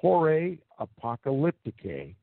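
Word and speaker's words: Horae Apocalypticae: and and research that work for yourselves it's pronounced jorah apocalypticae and it is spelled h o r a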